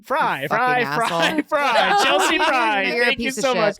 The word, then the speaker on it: Frei: r e i Ryan tell me how to pronounce my last name fry fry fry fry Chelsea fry thank you guys